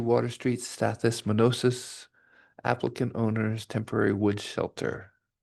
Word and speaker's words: Stathis Manosis: Stathi Manusis, 27 Quarry Path, Stonington.